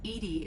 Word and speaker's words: EDI: are you named edie edie is the phonetic pronunciation of edi that is an acronym for enhanced defense intelligence okay i prefer edie